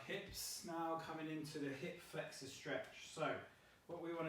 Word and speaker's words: hip flexor: That's pronounced hip flexor, not hip flexure.